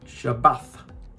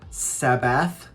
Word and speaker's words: Shabbat: a sound all right so you've got the shabbat shabbat not sabbath not sabbat shabbat it's shabbat yeah this may seem